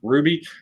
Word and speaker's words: RWBY: So apparently it's pronounced Ruby. This is RWBY. That doesn't sound like Ruby at all.